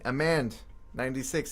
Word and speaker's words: Amand: Amand96, it's good to see you again. I think I've deduced that that is pronounced Amand based on new information that I have.